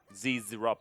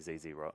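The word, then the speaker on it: Zz'Rot: Z-Rot portal. Zrot? It's Zrot. You like Zrot? No, I don't like it. That's how it's pronounced. Ah. Well, I also think that I shouldn't be saying ZZ-Rot because we say Z.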